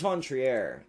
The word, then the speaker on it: von Trier: Lars von Trier. Lars Vontrier uh or Trier. Lars von Triier, I believe, is how it's said.